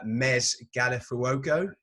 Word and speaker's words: Mez Gallifuoco: really excited to have on the show uh mez galifuoco did i pronounce that correctly so well that's perfect awesome